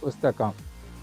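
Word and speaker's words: पुस्तकम्: Pustakam. So this last letter here is read as half letter ending with Dwaram means door.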